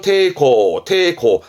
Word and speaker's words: 抵抗: 발음은 테이코, 저항하는 저자가 되겠습니다.